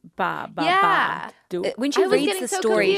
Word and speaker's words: Babadook: Early on it's like they say ba three times. Ba ba ba d.